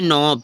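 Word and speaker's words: knob: word में क्या है तो एन से पहले किसी भी वर्ड में के आता है तो क्या हो जाता है साइलेंट हो जाता है के जैसे नोब के एओ बी ठीक है नोब ठीक है नो मींस क्या गांठ भी होती है तो के साइलेंट हो गया ठीक है जैसे नाइफ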